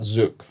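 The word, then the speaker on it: zouk: just and someone told me go check out zuk uh for people who never heard of zuk it's spelled z o u k and yeah and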